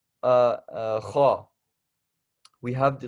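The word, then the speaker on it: خ: Kha when we're saying this.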